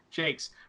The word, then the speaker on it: Jacques: I'm pronouncing that right, Jacques. Jakes. Brian Jakes did to food in